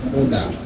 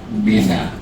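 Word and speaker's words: منى: Sebetulnya cara baca yang benar itu adalah Muna. Orang kita menyebutnya Mina.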